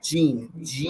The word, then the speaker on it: GEN: It's called Gene. How do you spell it? Gene. Gene.